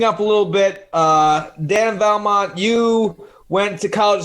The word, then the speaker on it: Vallimont: Some people miss the I a little bit with it, but that's what I was going to say.